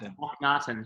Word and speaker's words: Akhnaten: of Amon in Philip Glass's, I'm going to pronounce this correctly, I hope, Akhnaten? Correct, that's Akhnaten.